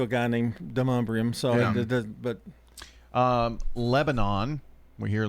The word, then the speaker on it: Lebanon: Well, and the reason is the country is pronounced Lebanon, and they're spelled the same. The country that it's named after is pronounced Lebanon. We just call it Lebanon.